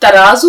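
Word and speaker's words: ترازو: तराजू दे दो देखिए तराजू लफ्ज बोलिएगा हमेशा तराजू जो है वह कोई लफ्ज नहीं होता अगर आपने ज की आवाज निकाली तो वह तलफ्फुज या व उच्चारण जो है वह आपका गलत हो जाएगा तराजू जड की आवाज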